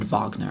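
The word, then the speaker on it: Wagner: very you know uh you have to make sure the German pronunciation cuz it's actually vard Vagner I think if you're going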